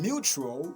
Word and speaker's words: mutual: And in mutual, the word is stressed at the first syllable, mutualism, okay?